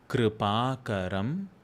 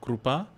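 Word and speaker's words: कृपाकरम्: Make sure you're pronouncing that Kr as R, not Ru. Telugus especially, it's not Krupa, Kripa. Or Hindi speaking people, it's not Kripa, it is not E, it's not a Rishi or Ritu, it is Kripa.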